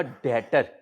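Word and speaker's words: debtor: फिर बेटा मैं आपको सिखाऊंगा डेटर। इसमें बी साइलेंट है बेटा, डेटर बी साइलेंट है बेटा, डेटर आ गया।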